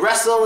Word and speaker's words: wrestle: get to it now there are a lot of other words like whistle and wrestle and stuff like that that have a silent te but I'll get to